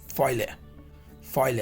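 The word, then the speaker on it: poêlé: इसका जो प्रोनाउंसिएशन है इज नॉट फॉले, इज फॉइल है, ठीक है?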